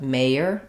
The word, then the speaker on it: mayor: Letters OR don't say or there, not mayor or doctor, but mayor and doctor. That's because those letters are in the unstressed syllable.